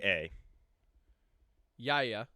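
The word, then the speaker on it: Yahya: Spell it. Y Ah, ya. Yaya.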